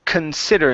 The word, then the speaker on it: consider: Let's go to the word consider.